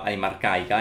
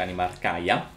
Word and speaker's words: Anima Arcaia: Ho portato al grado 6 Animarcaia, che a quanto pare l'ho sempre pronunciata male, ho sempre pronunciato Animarcaica invece Animarcaia.